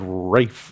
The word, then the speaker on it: Ralph: Nobody name nobody born in America is naming their kid Rafe. True. And it's spelled Ralph.